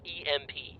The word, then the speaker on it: EMP: destroy the ai oh you mean an imp yeah that's not how you say it that's how most people say it nope no they don't i say it that way it's initials for electro magnetic pulse that's emp right which spells imp you're